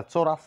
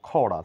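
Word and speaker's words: chorus: এর কোন সাউন্ড নেই এটা চোরাস না বলে বলবো খরা সি এর এস এর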